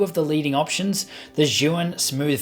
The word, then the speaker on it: Zhiyun: Just before we jump into it, I did actually have to Google to try and find out how to pronounce Zhiyun. It's Zhiyun.